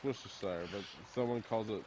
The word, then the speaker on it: Worcestershire: watching a lot of worst desire yeah it's Worcestershire but someone calls it like War Chester Street